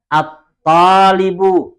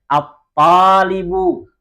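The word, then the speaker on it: الطالب: Contoh selanjutnya, dikun, adiku, talibun, at-talibu. Perhatikan lamnya tidak dibaca, langsung masuk kepada toknya, at-talibu.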